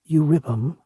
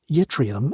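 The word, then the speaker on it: Yttrium: Urium, or Yetrium, as the rest of us say it, is almost exclusively found to be trivalent in nature.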